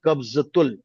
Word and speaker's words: कब्जतुल: यहाँ जे का मेंशन है, बट ज का प्रोनाउंसिएशन आता है कब्जतुल, क्योंकि उर्दू का शब्द है।